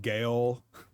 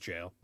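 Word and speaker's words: gaol: would always say like Gail or G or it's like no it's just pronounced jail g a o l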